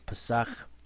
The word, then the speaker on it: Pesach: Here you see the Hebrew, Pesach. This is how you pronounce it.